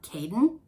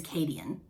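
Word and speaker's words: Cadeon: pronounce his name kadian in my brain when i read it i pronounce it uh caden i don't i don't i think in the audio version they his name is kadian so we'll just call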